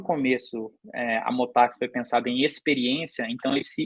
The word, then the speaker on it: Motax: Mas é engraçado, cara, porque, querendo ou não, essa pronúncia é uma pronúncia inglesa, né? Motax, desse jeito. Então o pessoal chama de Motar X, Motorax, fala um monte de